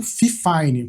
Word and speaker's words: FIFINE: Você com certeza já ouviu falar da Fifine, ou Fifine, como alguns criadores pronunciam por aí.